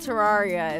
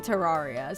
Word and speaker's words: Terraria: Like Terraria. But it's like, the thing is when you break it down into the root words, you would pronounce it like terra.